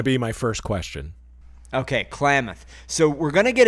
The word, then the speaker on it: Klamath: The pronunciation, from what Google told me, is Klamath. That was going to be my first question. Okay, Klamath.